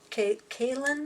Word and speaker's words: Cailyn: And that liner I'm going to use is by Cailyn, I do believe it's pronounced C-A-I-L-Y-N.